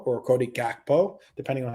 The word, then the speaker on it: Gakpo: How many goals has Cody Hako or Cody Gakpo, depending on how you pronounce it, uh scored in his 12 Caribou Cup appearances for Liverpool?